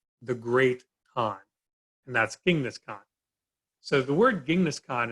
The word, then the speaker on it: Genghis Khan: And that's Genghis Khan. So the word Genghis Khan is actually his title, the Great Khan. We can also see this as Chinggis Khan. Chinggis Khan, however you wish to pronounce it.